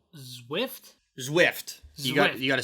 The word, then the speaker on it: Zwift: Speaking of fitness, it's called Zwift. Zwift. You got Zwift. to spell that. ZWIFT. Okay. Like Swift, but with a Z.